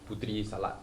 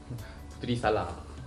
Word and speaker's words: putri salad: Okay, so I believe, like I mentioned, this is pronounced as putri salad. They pronounce it as putri salad.